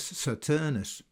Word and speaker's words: Satvrnvs: In Latin, the letter V was pronounced as a U. Hence the name, which is written Saturnus in Latin, is meant to be pronounced as Saturnus.